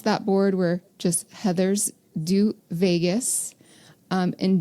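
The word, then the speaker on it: Deux: board where just Heathers do Vegas um and do is spelled D ux like French because there's two Heathers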